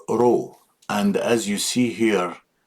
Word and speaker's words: Ro: And some people first time they think that this letter is P and actually it is row all the time looks like P but it's pronounced like row our letter R.